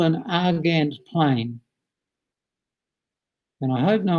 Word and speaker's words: Argand: this is called an argand plane and i hope no one asks me why is called an argan plane because the only reason i can tell you is that's how you pronounce a-r-g-a-n-d which is not a very